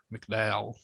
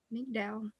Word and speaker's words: McDowell: is malcolm um mcdowell i'm not exactly sure how to pronounce it it's pronounced the same way as mcdowell county mcdowell mcdowell and then there's pat